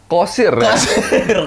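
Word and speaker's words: Qasir: Kan pakai Q bukan pakai K. Jadi bacanya Kosir.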